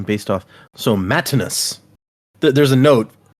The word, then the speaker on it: Matinus: So Matinus. There's a note. It's signed Matinus, and then it says pronounced as a Roman style name based off Matt, not as Matt in US.